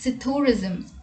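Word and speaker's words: psithurism: In this word, P is silent, so the word is pronounced as sithurism.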